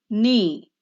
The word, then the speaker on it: knee: Knee. The silent letter is K.